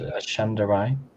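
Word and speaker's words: Ashandarei: To be fair, I think you can safely pronounce it as Ashandarai.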